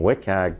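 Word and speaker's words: WCAG: through the website so if that's not meeting wiag that's how you say it doesn't meet accessibility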